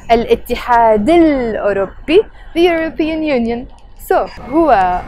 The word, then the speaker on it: الاتحاد الأوروبي: So الاتحاد الأوروبي, which we will pronounce with a liaison. الاتحاد الأوروبي.